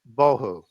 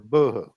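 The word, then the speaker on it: בהו: Hebrew word tuhu, and void is bohu or buhu, depending on how you want to pronounce that.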